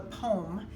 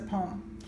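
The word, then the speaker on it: pome: classification is called the poem and it's spelled P om e sounds like a poem that you're gonna write that rhymes and so forth but it's not it is a fruit that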